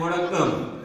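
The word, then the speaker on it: வணக்கம்: जैसे hello, hello को या नमस्कार को तमिल में हम बोलते हैं वड़क्कम।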